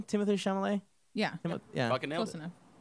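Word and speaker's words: Timothée Chalamet: Timothy Chalamet.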